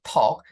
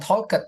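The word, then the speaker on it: talked: semacam t di belakang jadi talk bukan talket ya atau stoet atau apa jadi talk ada semacam setelah kita talk itu semacam dimatikan di belakang ya ada semacam bunyi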